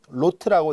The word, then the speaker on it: rot: 되어 있는 책도 있지만 ROT F로 되어 있는 책도 있거든요. 로트라고 읽습니다. 간단하게.